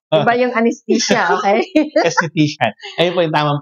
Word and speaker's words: aesthetician: esthetician esthetician ay I ba yung anestesia Okay aesthetician Ayun po yung tamang pronunciation po Paano naman kayo nag-start po dito